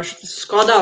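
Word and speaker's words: Škoda: so is it uh how do you say skoda or skoda we say in slovenia uh skoda octavia that is number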